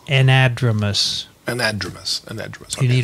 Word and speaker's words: anadromous: an entrepreneur so so cells no n it's anadromous anadromous an edge you need a pronunciation uh okay fine help there okay anadromous